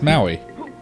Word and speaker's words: Maui: ma you I yes Maui it's like Maui Hawaii yeah I was hoping it doesn't make any sense to this kind of got like an asian flair to him well maui its has a lot